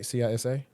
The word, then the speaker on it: CISA: Because remember the last one that was over CISA, I think that's how you pronounce it, right? CISA.